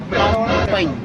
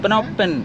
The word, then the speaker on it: Phnom Penh: What is the correct pronunciation? Phnom or Phnom Penh? Eh? Phnom Penh. Phnom Penh.